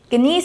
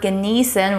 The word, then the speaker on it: genieß: The sharp S at the end of the word is pronounced like the S in the word snow.